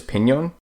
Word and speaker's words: piñón: An N with a tilde on top is an enya and is pronounced with a ñ sound, such as piñón.